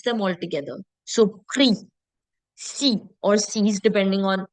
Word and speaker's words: prix: If you remember the dipsticks rule, DPSTX, whenever it is at the end of a word as consonants, we don't pronounce them. And that's the same thing that you're seeing here. It's not prix, it's not six, it's not folks, it's not dukes.